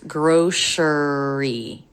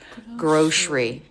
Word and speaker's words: grocery: be pronounced three syllables grocery but most native speakers drop this middle syllable and it's just gr sh sound grocery Grocery it's a tricky